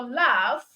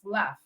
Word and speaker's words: laugh: weird because because the letters here is GH which could be pronounced as G right but then it's giving us the F sound because you produce this word as laugh laugh all right so it's